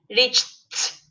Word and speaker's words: reached: Imagine here I have a T sound. Yeah, reached. Yes. Forget about ed. Rich. Okay. And hold your Rich. tongue there. Don't move your Rich. tongue anymore.